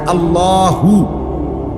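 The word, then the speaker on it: الله: হইতে হবে শেষে আল্লাহ শেষে একটা গোল হা আছে ছোট হা আল্লাহ মানে আল্লাহু তো হুটারে শ্বাস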